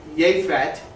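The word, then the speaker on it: יֶפֶת: And we always pronounce that J, but it's actually Yefet is how that's pronounced, and it means open.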